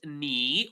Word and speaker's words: knee: So uh as we said in the beginning this word is pronounced ni without the k. We don't pronounce the k. We don't say knee.